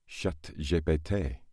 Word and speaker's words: ChatGPT: And the reason is because if you say ChatGPT in France, you obviously pronounce it ChatGPT. But said aloud, that sounds exactly like cat, I farted.